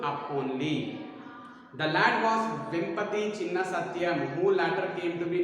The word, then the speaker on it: Vempati Chinna Satyam: See here, pronunciation V-E-M-P-A-T-I, Vempati Chinna Satyam, C-H-I-N-N-A, Vempati Chinna Satyam, S-A-T-Y-A-M.